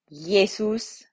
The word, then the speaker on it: Jesus: see i um and it is pronounced like the y sound of yet yeah jesus so whenever you see